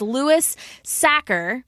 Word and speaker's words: Louis Sachar: and this one I definitely know how to pronounce his name, and it is Louis Sachar.